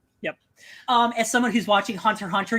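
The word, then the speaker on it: Hunter × Hunter: As someone who's watching Hunter x Hunter, you don't pronounce the X.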